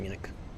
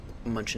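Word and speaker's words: München: Turn direct to Munich to Munchin. Munchin as the locals say 3 4 degrees 14 knots.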